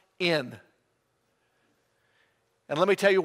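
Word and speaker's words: ἐν: the word it's spelled e in and it's pronounced in and let me tell you what it means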